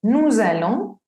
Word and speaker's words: nous allons: Tenemos nous allons y vous allez. Si se dan cuenta, el resto comienza la segunda palabra con V, no empieza ni con vocal ni con H muda, entonces pues no podemos hacer la liaison.